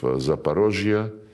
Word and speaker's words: Zaporizhia: And when we now liberate remaining parts of Zaporizhia, this is the Russian way to pronounce it, and Kherson, the people,